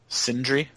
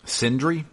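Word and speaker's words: Sindri: into brock's brother um starts with the s but i can't pronounce it syndry sindry is that it yeah s-i-n-d-r-i okay and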